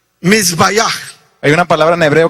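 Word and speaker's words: מזבח: The altar is, there's a Hebrew word, and it says, and it's pronounced mizbayach. Hay una palabra en hebreo que se pronuncia misbayach, That means altar in que Hebrew.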